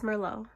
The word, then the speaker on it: merlot: got me black cherry merlot merlot that's a wine not everybody's trying to give you alcohol the tea is silent it's merlot then why add the